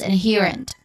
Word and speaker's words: inherent: Pronunciation wise, we start with in first syllable, which has a short e sound, and then next is the second syllable, or this our second syllable and the stressed syllable here. He. So that's the stressed syllable, and then rent, which has a stress sound. So this is inherent. Again, inherent. So the stressed syllable has a long e sound.